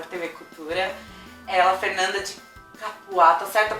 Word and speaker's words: Capua: Ela, Fernanda de Capuá, tá certa a pronúncia? Capuá.